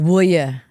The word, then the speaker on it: Vuj: No, my mom's maiden name was Vuj. Oh, there you go. Wow. We're pronounced Vuja in Yugoslavia.